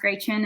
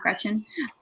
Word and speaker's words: Gretchen: kid um that's why my name is pronounced gray chin and not gretchen um it's a german pronunciation um but so i